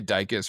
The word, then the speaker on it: Dikis: I say Dikis rhymes with ficus, and they're like, then it That's a good causes confusion because they're like, what's a ficus?